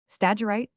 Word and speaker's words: Stagirite: Stagirite, Aristotle, the great philosopher of Greece, 384-320 b 100, born at Stagira. Pope here shortens the second syllable by a poetical license.